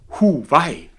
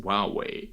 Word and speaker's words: Huawei: And you know, and this was a funny thing because I did not know how to pronounce them. And I'm a German and I said, Huawei.